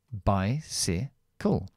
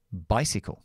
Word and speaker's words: bicycle: es una s s esto es una y pero se pronuncia como I porque la Y es más como I que para otra cosa entonces Bicycle Bicycle Bicycle y la u